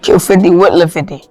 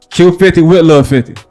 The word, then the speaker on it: Q50wLil50: is featuring Q50 l 50 that's how to pronounce the name Q50 will 50 say it again Q50 with little 50 Q50 with little 50 yeah okay and that's you right can you